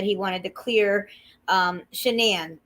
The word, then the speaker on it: Shanann: wanted to clear um shanann that's how you say it shenan to clear shenan's name